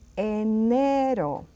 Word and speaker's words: enero: E comes, it's just pronounced as enero. Enero. See the sound of E? Open your mouth.